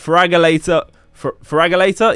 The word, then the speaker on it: Feraligatr: But there you go, I can't say it. Feraligatr? Yeah, that's how you say it.